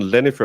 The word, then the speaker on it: Jennifer: Jennifer is also most often Lennifer in Germany. Even if they always nicknamed them Jenny, the English pronunciation. Yeah. But uh it's we would do more instead of a jen, we would do a yen with an a. Um because the j sound isn't really one we use.